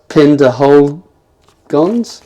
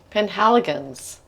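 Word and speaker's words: Penhaligon's: and um absolutely lovely looking how do you pronounce the products Pender hold gon oh anyway that's my first attempt at pronouncing it hold let I'll refer to the expert linguisti Linguistics oh Penh helgans Penh helgans would have helped had my glasses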